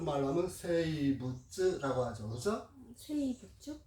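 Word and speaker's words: 生物: 세이부츠? 예. 생물 그렇게 쓰고 이끼모노라고도 읽고 세이부츠. 이끼모노라고 읽기도 하고 이렇게 해서 글자를 한자를 각각 세이부츠 이렇게도 읽습니다.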